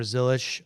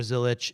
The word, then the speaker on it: Zilisch: All right Connor Zilisch everybody and by the way we've been told Connor Zilisch or Connor Zilich is acceptable pronunciation. Uh that is official from the family and now we will welcome in Chase Briscoe.